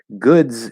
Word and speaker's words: goods: Um, I will note, however, and I mentioned this before, one thing that very commonly happens, like goods is spelled with an S, but it's pronounced with a Z, right?